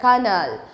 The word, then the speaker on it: colonel: colo n el nel but while pronouncing it you must have to use that kernel so this way you